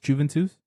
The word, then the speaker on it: Juventus: it's actually pronounced Juventus.